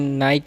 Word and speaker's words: Nike: आज हम लोग करने वाले हैं comparative study between नाइक एंड pमा। पहले प्रोनाउंसिएशन क्लियर कर दूं कि कुछ लोग इसको नाइक बोलते हैं, कुछ लोग नाइकी बोलते हैं।